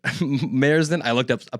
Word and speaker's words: Merced: Merced. I looked up a pronunciation right before this.